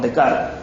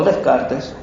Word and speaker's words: Descartes: la edad moderna, con Descartes. O Descartes, es la misma persona, ha pronunciado el nombre de manera distinta, con Renatus Cartesius, quien se sienta latín.